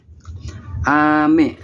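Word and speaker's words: 雨: Seperti pelafalan ame, yaitu ame yaitu untuk hujan, sedangkan untuk permen itu me-nya itu lebih ke tinggi, ame gitu.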